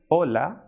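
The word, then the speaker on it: hola: gymnasia Argentina edge which is pronounced as a che it is always silent and it will not be pronounced at all and it will not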